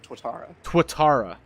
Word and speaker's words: Tuatara: Yes, the SSC Tuatara. That's what... Yep, that's what I said.